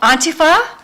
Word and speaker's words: Antifa: I'm going with the uh uh Laura Ingram pronunciation. Oh, Auntie Fa. Well, Auntie Fa sounds like my auntie Fa, you know, a u n t i e fa f a.